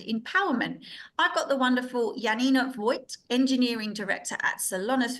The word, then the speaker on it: Janina: you already said it right my name is Yanina I'm actually based in Munich in Germany right